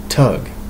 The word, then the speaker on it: thug: the sanskrit root stog s-t-h-a-g to conceal is pronounced tug and thuggy as tuggy okay so tuggy so